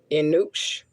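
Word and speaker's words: eunuchs: asanas the master of I have to say it right it's EU Nu u c HS Enuk that should bring certain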